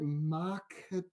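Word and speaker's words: Makhachev: So I guess the lock of the night, how do you pronounce it? Makachev, baby.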